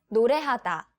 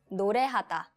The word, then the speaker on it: 노래하다: It's 노래하다. 노래하다. No. 노래하다.